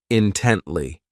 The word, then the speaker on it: intently: This adverb has 3 syllables, and the stress is on that second syllable, intently.